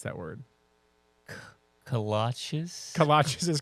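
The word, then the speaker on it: kolaches: How do you pronounce that word? Katchas. Kalachas is correct.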